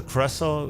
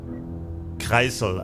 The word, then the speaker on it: Kreisel: In the course of his work, Mr. Kressel, or the Kreisel actually, that would be the correct German pronunciation of his name, has found the 414B